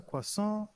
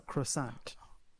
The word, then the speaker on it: croissant: Is that a quason or a croissant? Please help us. Help us. Help us. The T is silent.